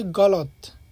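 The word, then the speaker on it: غلط: গলদ এখানে শুদ্ধ উচ্চারণ হবে গলত। গলত এর অর্থ হচ্ছে ভুল। আবার গলদ এটা হচ্ছে নতুনদের জন্য,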